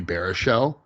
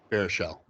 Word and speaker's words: Baruchel: compare him a lot to like a Jay Baruchel, where you can, depending on what movie they're